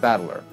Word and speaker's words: Battler: far the problem is my own name is made out of the characters for fight and person and it's pronounced battler put it all together